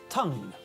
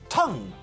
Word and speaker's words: tongue: Tongue is pronounced tongue, not tongu.